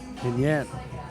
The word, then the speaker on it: Pinheiro: How do you pronounce that? Yeah, Rodrigo Pinheiro. Pinheiro.